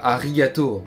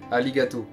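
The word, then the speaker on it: ありがとう: c'est vous connaissez sûrement le fameux alligato qui s'écrit avec un r C'est mais ça se dit pas arigato c'est alligato ensuite vous avez déjà sûrement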